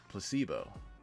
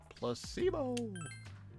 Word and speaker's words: placebo: today repeat after me thank you placebo the stress is on the middle syllable placebo explain it so Charming how